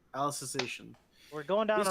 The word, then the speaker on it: Alicization: Alice in Wonderland. Alicization.